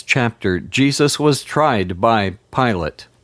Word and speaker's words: Pilate: In the first half of this chapter, Jesus was tried by Pilate, or Pilato, as I pronounce his name, and Herod, before finally Pilato caved into pressure and sentenced Jesus to death.